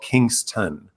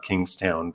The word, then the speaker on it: Kingston: And suddenly I hear they're filming in Toronto and in a town, ironically, called Kingston, not Kingstown, but Kingston. The way I pronounced it, yeah.